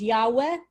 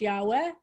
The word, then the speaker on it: Yahweh: to figure it out some people have said it's pronounced yahweh it's not pronounced yahweh jehovah's witnesses they're referring